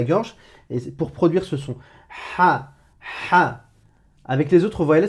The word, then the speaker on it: ح: Je la répète, c'est la lettre ha, ha, ha. C'est pas A. Tu ne prononces pas que la voyelle A, tout simplement.